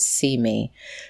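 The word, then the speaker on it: CIME: intersectional media and entertainment c-i-m-e we pronounce it see me because it's about advancing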